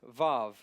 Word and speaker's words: vav: h sound all right this is VAV it looks like w a w but it's VAV VAV V and now this can be a w or a v don't worry so much